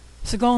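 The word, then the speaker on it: segol: something easier this is Seagal which is a triangle of dots Seagal makes the a sound in bed Segal can also appear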